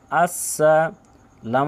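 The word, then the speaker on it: السَّلَامُ: আসেন হামজা সিন জবার আস সিন জবার সা আসসা লাম আলিফ জবার লা আসসালাম মিম পেশে মু আসসালামু আসসালাম লামু আসসালামু আইন জবার আ লাম জবার লাই আলাই কাফ জবার কা আলাইকা আলাইকা আসসালামু আলাইকা আসসালামু আলাইকা আসসালামু আলাইকা থেকে বলছি আবার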